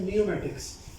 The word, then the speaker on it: pneumatics: से क्या कहते हैं, नियोमैटिक्स। क्या कहते हैं जी, नियोमैटिक्स। पी जो है वो साइलेंट होता है एंड ऑल इज नियोमैटिक।